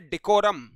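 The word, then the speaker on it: decorum: screen के ऊपर ये इसका उच्चारण है डेकोरम क्या bekoram और डेकोरम को याद करने का तरीका है देखो राम क्या भाई देखो राम से हम लोग डेकोरम को याद करेंगे डियर देख लीजिएगा यानी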